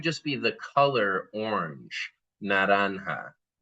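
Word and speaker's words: naranja: Let's notice that the J in Spanish has taken over the h sound.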